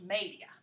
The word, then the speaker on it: media: okay so for that you use the word media looks like media in english but it's pronounced media okay so if you wanted to say 230